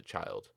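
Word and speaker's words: Childe: child actually not say pronounce a child even though it's got an e at the end the goblin child turn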